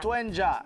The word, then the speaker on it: Doenjang: And the name is, I can't pronounce it. Doenjang. Doenjang, yes.